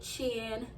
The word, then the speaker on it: Chen: how to pronounce it I pronounce it chin it's actually a Hebrew word so the CH actually makes a KH sounds it means grace or favor a lot of people